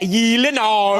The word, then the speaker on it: Gyllenhaal: The name Gyllenhaal, I never know if I'm pronouncing it correctly. It is a Swedish name, is it not? It is a Swedish name. So shouldn't it be like Gyllenhaal? Oh my God. I have Gyllenhaal. The only two places that is pronounced correctly, my last name like you did just now, is in Sweden and in IKEA.